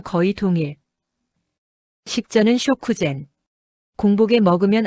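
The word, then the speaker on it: 食前: 한국어 식후랑 발음 거의 동일. 식전은 쇼쿠젠.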